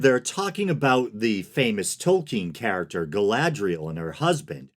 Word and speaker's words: Tolkien: I've been a Tolkien fan for a long time, and I believe that is the proper pronunciation. I used to say Tolkien or token when I was a kid, but based on